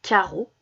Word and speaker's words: carreaux: Taoki a une chemise à carreaux. Carreaux, j'entends O et ça s'écrit E-A-U.